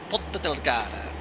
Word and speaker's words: Ponta Delgada: And it is pronounced Ponta Delgada.